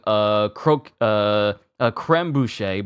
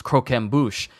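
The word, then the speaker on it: croquembouche: Because I remember later on in the story, I was calling something creme bouche, but it was croquem bouche later on in the story.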